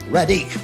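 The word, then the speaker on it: Radigue: But anyway, Radic, that's it.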